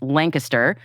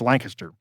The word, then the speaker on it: Lancaster: Um but if you pronounce it Lancaster in Pennsylvania, they will run you out of town, right? You have to say Lancaster.